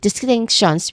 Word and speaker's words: distinction: And then lastly, distinction, which has three syllables, but you stress here on the second syllable.